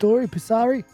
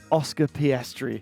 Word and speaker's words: Oscar Piastri: Pisari? Oscar Piastri.